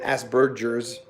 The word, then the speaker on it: Asperger: thought for some autistic asperger or as they say in england ask bird jers not making fun of that's just how they say it i think uh